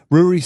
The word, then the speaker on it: Ruari: Well, I had to clarify your pronunciation of your name because in the way that you had told me to remember it was it rhymes with brewery, and it's interesting that